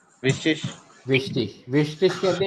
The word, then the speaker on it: wichtig: विश्टिश, विश्टिश कहते हैं इंपॉर्टेंट को, जरूरी, विश्टिश।